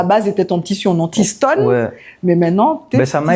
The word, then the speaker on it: T-Stone: soit en mode international j'ai retiré le i mais ça garde la même prononciation qu'en créole ah c'est sympa c'est marrant